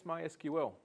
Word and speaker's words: MySQL: What is MySQL? MySQL is a relational database management system. It stores and organizes data. MySQL pronounced my s q l is a relational database management system.